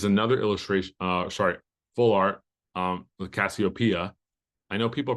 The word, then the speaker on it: Cassiopeia: Next one is another illustration, full art, with Cassiopeia. I know people pronounce it different names, but there's like literally songs and people in history called Cassiopeia. So make sure you pronounce it Cassiopeia.